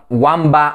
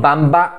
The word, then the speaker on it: Wamba: the previous episodes that Wamba or Witiza is not pronounced as I pronounced it, but rather Vamba and Vitiza and according to the